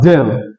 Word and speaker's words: del: This symbol is pronounced as del or nabla sometimes.